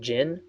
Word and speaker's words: Jin: I'm Jin, which is spelled Hmm. Jin, not like the alcoholic drink.